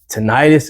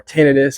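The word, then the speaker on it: tinnitus: the The muffling Sounds tonius is on the rise or tenus however which way you prefer to pronounce it I always say tonius but I want to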